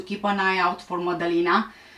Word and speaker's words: Madalina: an eye out for modeling which is the proper way of pronouncing the name was last seen at